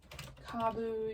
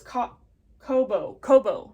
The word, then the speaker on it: Kobo: Okay, so Kabu yarn. I think that's how you pronounce it. Oh, it's Kobo, not Kabu.